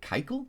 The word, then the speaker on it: Keuchel: Now, they've got Dallas, I think Keuchel is how you pronounce that, coming up.